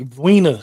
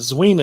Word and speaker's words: Zweena: and it says Zen, but it's pronounced with a hard V. It's like Vina speaks.